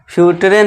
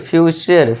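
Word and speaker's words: future: कल्चर, फ्यूचर, कुल्टरे नहीं कल्चर करना है, अर का साउंड, फ्यूटरे नहीं फ्यूचर, फ्यूचर, नेचर, कल्चर, फ्यूचर।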